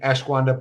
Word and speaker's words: ashwagandha: I cannot pronounce the name of this supplement. My wife makes fun of me all the time. It's ashwagandha.